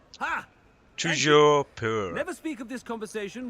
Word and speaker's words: Toujours pur: Toujours pur. Ha! Toujours pur.